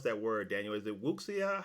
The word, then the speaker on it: Wuxia: Is it wuxia? How do I pronounce it? Is it Wuxia. Xia is pronounced like Shia.